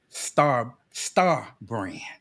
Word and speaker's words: STAABrands: Shadow the Archangel, aka Star Brand. Am I pronouncing that right?